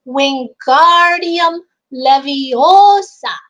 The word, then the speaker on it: Wingardium Leviosa: he's trying to help you're saying it wrong Harry heard Hermione snap its Wingardium Leviosa make the GAR nice and long Hermione rolled up the